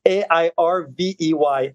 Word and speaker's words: Hervé: It's my phonetic name, my name on the metaverse, which is Airvey, Hervé. The actual pronunciation of it.